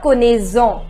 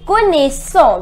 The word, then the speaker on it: connaissons: Now, pluriel, nous connaissons, remember it is not connaissons, c'est connaissons because we have double S.